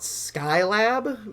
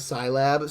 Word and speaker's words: SciLab: off track here but we always used to call it sky lab because we did not know it was scilab so we all so we didn't know how to pronounce it because we didn't realize it was just a shortening of science lab so we were just